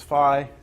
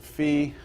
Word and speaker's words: phi: theta sine Phi now some people pronounce this Phi some people pronounce it fee you'll you might hear